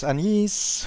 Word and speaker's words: Agnes: that well played then there was anise whose name is spelled like Agnes curious I don't really